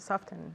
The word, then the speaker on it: soften: Just to soften, no? To soften. Exactly, okay, so here the T is optional. Oh, okay. It's like often, soften. It's the same. We can say soften or we can say soften.